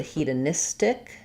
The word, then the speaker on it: hedonistic: And then when we get to hedonism, or let's go to hedonistic, the syllable pattern stress changes. So becomes, still stays he, duh, but now we're stressing on nis and adding tic.